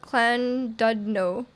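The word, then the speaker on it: Llandudno: It's pronounced Clan Dudno.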